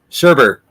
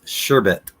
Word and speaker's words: sherbet: have done this too Sherbert sure Bert right but it's sherbet I know as a kid I called it Sherbert I called it sherbet for probably the first 20 some odd years of my life I didn't know there wasn't a second R in there and it doesn't sound